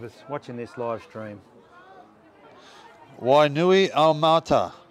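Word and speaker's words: Wainuiomata: Wainui Mata. Wainui Mata, that's how it's pronounced.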